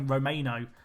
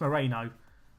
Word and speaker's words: Moreno: even say his name I was about to call Romano it's Moreno I'm panicking I feel